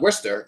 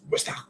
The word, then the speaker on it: Worcester: Like Worcester is Worcester. It's not Worcester, it's Worcester.